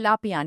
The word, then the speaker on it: Lapian: And today we have Yehuda Lapian.